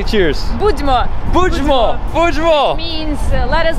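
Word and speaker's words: Будьмо: Budźmo.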